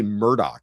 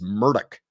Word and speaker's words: Murdaugh: He also doesn't say Murdoch. He says Murdock if you listen.